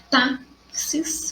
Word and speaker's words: táxis: Então, eu tenho a palavra táxis, que termina em IS. Então, as palavras terminadas em IS são paroxítonas acentuadas, segunda sílaba mais forte.